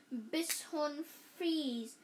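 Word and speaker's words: Bichon Frise: owners said Charles mom she pronounced it it like Bish Bish bishon fre kind of a fancy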